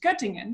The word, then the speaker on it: Göttingen: Now, I would say Göttingen, but there's no way it's pronounced like that. It's close. You're really good in saying this. Also, my name, you say it very good. Göttingen. You say it good.